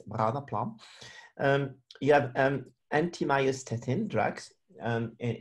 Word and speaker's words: Branaplam: It's Branaplam, and you have to pronounce it with the accent from Basel. So it's not Branaplam, it's Branaplam.